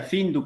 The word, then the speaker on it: Pintu: ¿Qué significa Pintu? Pintu significa, en quichua se pronuncia findu, pero se escribe Pintu.